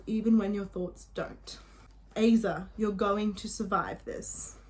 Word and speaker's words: Aza: girl know this follows Aza that's how I pronounce her name okay Aza as a I say ASA and she has OCD